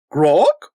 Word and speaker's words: Grok?!: a few minutes talking about a game called Gro and yes that there's nothing wrong with me